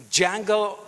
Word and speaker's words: Django: Django, the D is silent, damn it.